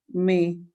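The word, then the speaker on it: mais: How do we normally pronounce it? Me.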